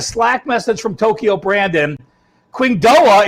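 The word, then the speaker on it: Qingdao: Qingdoa is pronounced King Do.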